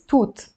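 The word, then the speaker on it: توت: toot is berry berries toot that's how you pronounce it so you will need a t plus wow which will sound as a u and T to you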